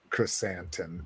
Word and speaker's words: Chrysanthemum: Cliff, you pronounce it correctly. Black Chrysanthemum. Chrysanthemum, that's right.